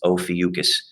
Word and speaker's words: Ophiuchus: center part of it this is a strange one pronunciation it's ophiuchus all right so ophiuchus is